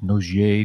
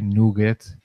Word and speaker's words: nougat: But we have the marshmallow and nougat and not nougier, nougat. Nugget. Nugget.